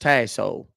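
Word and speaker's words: Tassohl: L is in London it's pronounced tyo it's French Tai T Hall correct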